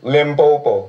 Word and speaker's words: Limpopo: Limpopo.